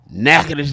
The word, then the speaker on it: Natchitoches: Natchitoches, Louisiana. Do y'all let me say it because y'all can't say it? I can say it. Natchitoches, He Louisiana.